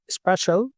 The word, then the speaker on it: SpAItial: Es la palabra spatial, es decir, espacial, pero metiendo AI, metiendo las siglas de Artificial Intelligence en el medio. Es decir, SPAITIAL, Spatial.